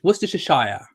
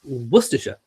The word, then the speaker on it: Worcestershire: pronounce if you're American I've heard people say it was dish was dish a shire Worcestershire um no it's Worcestershire or even Worcester but he's a sticker